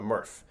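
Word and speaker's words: MRF: to what's called a Murph and a Murph uh is a not such a exciting name but uh it rhymes with Smurf which is slightly more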